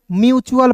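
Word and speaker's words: mutual: दोस्तों क्या पढ़ेंगे म्यूचुअल यानी कि अंतिम में टी यू एल इ आता है ना तो उसका उच्चारण टी यू एल आ रहा है ना तो इसका उच्चारण चुल के रूप में करेंगे दोस्तों तो एम यहां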